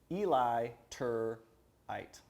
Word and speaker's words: Eliturite: if they're not e-l-i-t-u-r-i-t-e eli tur eight yeah right but illiterate so illiterate is who